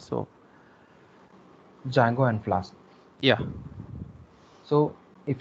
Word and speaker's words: Django: Sorry, D is silent. So Django and Flask.